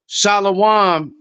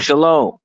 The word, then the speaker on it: shalom: So Shalawam isn't a real pronuncal. Shalawam is is fake. It's shalom.